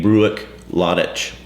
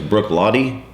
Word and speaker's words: Bruichladdich: hill we're Hill People Brook L would to me would be bruck lck breuck maybe breuck Lich yeah so the Gaelic pronunciation thing how breuck Lich becomes Brook LTI is foreign to me of course it's foreign